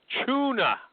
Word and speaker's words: Chuna: Chuna. Are you there? I am, sir. Yes. It rhymes with the fish like I've been hearing since uh middle school.